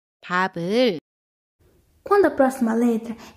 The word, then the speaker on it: 밥을: Quando seguidas por vogal, piup tem som de B e piup mantém o som original. 밥을, 밥을, Quando a próxima letra